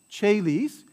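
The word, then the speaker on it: caelis: a few exceptions so the c right is going to have a cha sound a soft cha sound like in church when it comes before an i an e or a diphthong like a e or o e right a e or o e so when it comes before those vowels that's going to have a cha sound like che lis chaelis otherwise it's going to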